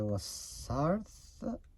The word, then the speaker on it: La Sarthe: On the La Sarthe, I think that's how you say it. It's in French.